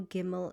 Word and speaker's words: gimmel: So whether there's a dot in gimmel or whether there is no dot in gimmel gimmel will always make the sound g as in goat.